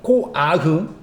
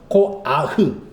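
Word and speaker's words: כֹּחַ: 코아흐. 정화가 발음. 코아흐.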